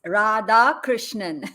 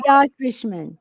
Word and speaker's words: Radhakrishnan: it's four syllables. It's Radhakrishnan. You can call me Rad. Beautiful. Radhakrishnan.